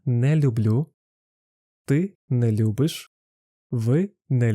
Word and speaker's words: люблю: Я люблю. Ти любиш. Ви любите. Ми любимо. There is a historically developed extra sound «л» in люблю, which makes the pronunciation of the word smoother.